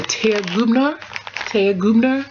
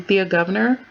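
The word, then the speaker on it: Thea Gouverneur: Basically, my team got me, let me say it right, a Thea Gubner. We've all been saying Thea Governor.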